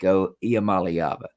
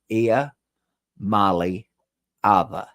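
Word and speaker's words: Iamaleava: at 56 years old than they will ni IAM malava say it with me boys and girls I Mali AA now you can just say Nico but I'm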